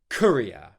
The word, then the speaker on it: courier: Korea, Korea, Courier, Korea, Korea, Courier, Korea, Korea, Courier, Korea, Korea, Courier.